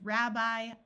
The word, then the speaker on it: rabbi: A few words ending in I will have a long I sound, such as rabbi, alumni, and alkali.